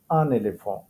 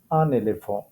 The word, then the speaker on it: un éléphant: An elephant, elephant that is in French is un éléphant. Un éléphant. So এখানে একটা লিয়াজের ব্যাপার আছে, তো প্রনাউন্সিয়েশন হবে un éléphant. Un éléphant. Un éléphant.